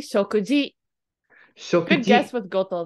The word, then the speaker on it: 食事: He didn't say arete koi shokukoto. It's actually shokuji.